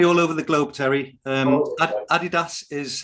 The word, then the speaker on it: Adidas: You can maybe tell us later how we're supposed to pronounce it. Clarks and various others. It's said differently all over the globe, Terry. Adidas is how they want you to say it.